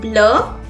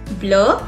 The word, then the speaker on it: bleu: Same is with bleu, bleu. It also has an E in the femina, but the pronunciation is same. Then is green.